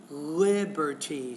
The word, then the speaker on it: liberty: So it's actually liberty. Stress is on the first syllable there.